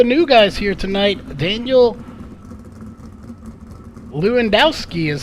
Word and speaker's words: Lewandowski: one of the new guys here tonight Daniel Lewandowski is how we pronounce that name Corey Henry justin Chapman and